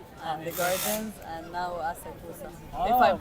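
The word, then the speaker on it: 浅草: And today we have been to the Imperial Palace and the gardens, and now Asakusa. Oh, If I'm very pronouncing nice. it correctly, Asakusa.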